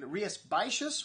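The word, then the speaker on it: Rías Baixas: world today and rhiaspacious one of the hardest areas to pronounce in spain it's up in galicia it's just north of portugal and a lot of x's and s's in there that aren't pronounced anyways they make some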